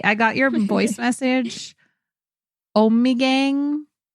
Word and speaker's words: Ommegang: got your voice message Ommegang Oh me game that's Ommegang we keep saying it wrong I keep saying it